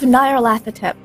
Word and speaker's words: Nyarlathotep: Masks of Nyarlathotep. It took me a whole season to learn how to pronounce that.